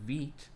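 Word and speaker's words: Vite: way if you've noticed i've changed to using the correct pronunciation veet since it's french i guess or italian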